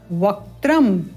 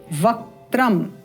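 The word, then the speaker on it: वक्त्रम्: निखिल भय हरम पंच वकम यह पहले आपको बताया था पंच यहां पर ध्यान देंगे पंच वक्रम वक जी वकम इसको लिख देते हैं इस प्रकार से वक त्र म वक्रम इस प्रकार त्रिनेत्रम सम्यक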